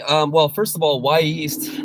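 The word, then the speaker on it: Wy'east: what that name is it's spelled wy apostrophe east so it can come off as a little choppy but out here in the northwest it's the native american name from mount hood which is the the volcano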